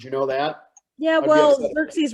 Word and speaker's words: Xerxes: know that yeah well xerxes rhymes with jerk cheese for a reason can